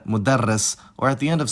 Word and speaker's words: مدرّس: about consonants is that Arabic has phonemic consonant gemination, which is when a consonant is held for a longer time. This can happen either in the middle of the word as part of a morphological pattern, like in mudarris, or at the end